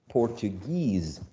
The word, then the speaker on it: Portuguese: syllable japanese japanese right we know that whenever we use this suffix right because the i guess the original words japan japan japanese this suffix is attracts the stress japanese senegal senegalese portugal portuguese okay so um this uh suffix right attracts the uh uh the stress legal legalese okay it's